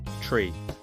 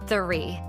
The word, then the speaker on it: three: The number after two, people say tree. But it's not a tree. Tree is a tall plant with a trunk, branches and leaves, like an oak tree or palm tree. So, we say three. Stick your tongue out a little. It feels funny, but it works.